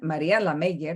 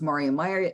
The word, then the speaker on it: Maria Meyer: A veces me llaman Maria la Meyer, because once in a while, I also lived in a different country and learned another language. But it's pronounced Maria Meyer, the executive director of Your Women's Fund Miami-Dade.